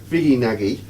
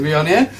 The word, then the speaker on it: Viognier: So we're talking about the wine I have a real problem with, a real hang-up in pronouncing, Viognier.